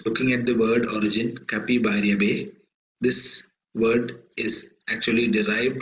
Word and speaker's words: Capibaribe: So we will pronounce this as Capibaribe.